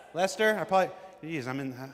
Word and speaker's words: Leicester: Lester. Lester.